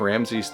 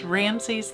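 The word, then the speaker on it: Ramesses: for the tomb of ramsy's I 5th and 6th yeah I think we said it wrong earlier but it Ramsay's the fifth and the sixth here this is a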